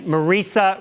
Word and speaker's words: Marisa: It's Marisa rhymes with Teresa.